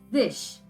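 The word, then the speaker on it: zig: Z-I-G is called zish.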